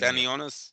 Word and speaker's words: Stanionis: Stenianis, is that how you say it? Stony. Stanonus. Stan Stanionis.